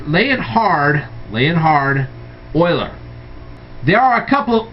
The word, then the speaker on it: Euler: guy named euler now i know his name is spelled e-u-l-e-r but his name is pronounced euler okay and